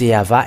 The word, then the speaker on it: Yahvah: how they read it, not W or Wa or Wu, because some people say the Wu, and that where the Yahoo comes from. They changed the Vav into U, and you were not washed away from your sin if you were doing so. And there is no V, W, and it changed to U. It is always V. And that is Yahvah, and those who call